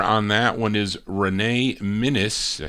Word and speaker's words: Minus: The lead singer on that one is Renee Minus.